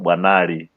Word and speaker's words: Bwanali: Bwanali.